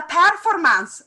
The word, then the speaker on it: performance: In Italian, for the Italian, is la performance.